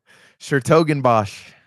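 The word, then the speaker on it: 's-Hertogenbosch: Schertogenbosch. I think it's a completely silent S.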